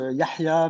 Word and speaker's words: Yahya: Donc ouais, je m'appelle Yaya, ça se prononce Yahya, mais pour faciliter la prononciation.